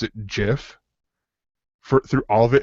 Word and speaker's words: GIF: rest of the show pronounced the if it was a hard g like like like gif he would pronounce it gif for through all of